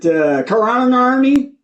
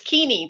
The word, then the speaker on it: Keaney: Is it Karanarni? No, Keaney? That's How do you correct. say- It rhymes with army. No, it's Keaney, like teeny weeny.